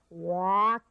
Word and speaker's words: walk: be stopped yeah so it sounds even though it is a lk you pronounce it a WK like one more word Rock well our next guest is cha cha cha hak walk oh good so the